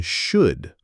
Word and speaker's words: should: Don't say the L in should.